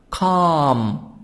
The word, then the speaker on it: calm: Most of time if I have A before L, L is silent.